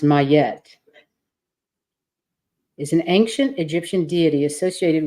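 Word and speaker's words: Ma'at: good that's lovely your inspiration oh it's actually pronounced mayette isn't ancient Egyptian deity associated with truth Harmony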